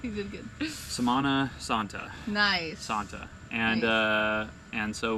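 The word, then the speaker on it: Semana Santa: We mentioned before, like it's Samana Santa, and so I checked with Jess because I keep pronouncing it wrong. You did good. Samana Santa.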